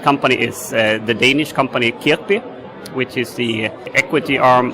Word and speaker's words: Kirkbi: That company is the Danish company Kirkbi, which is the equity arm of the Lego family, the famous toys.